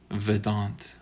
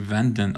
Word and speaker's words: Vedant: Is it Vedant? How would you pronounce this? Vedant. I think I've been calling you Vendant. I saw an extra N in there, and I didn't mean to.